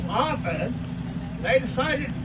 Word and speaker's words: Harford: But being good New England does, they did not say the T, so it was Harford.